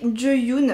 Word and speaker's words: Jeyoon: Si je prononce bien, elle m'a mis un petit mot quand elle m'a envoyé le produit. Pour me dire que ça se prononçait Jeyoon.